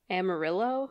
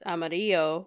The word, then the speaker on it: Amarillo: is it's in Texas everybody calls it Amarillo yeah but it but in Spanish it's Amarillo which means yellow oh but like everybody says Amarillo and there was such this really funny I'm like there was that song like is this the way to Amarillo do you remember that see that doesn't rhyme with the Spanish version I just think it's